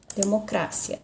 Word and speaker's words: democracia: essa palavra existe sim porém a sílaba tônica se for na língua portuguesa a sílaba tônica não se olha democracia democracia então a sílaba tônica seria aqui mas na língua espanhola a sílaba tônica é no cra democracia democracia tá são as sílabas é que mudam a sílaba tônica da palavra muda na língua portuguesa é uma sílaba tônica e na língua espanhola é outra sílaba tônica E aí já trouxe